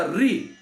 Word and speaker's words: ऋ: तो वहाँ पे एक प्रश्न किया गया, गुजराती में ये जो ऋकार है उसको रू बोला जाता है, रुकार बोला जाता है, रू बोलते हैं।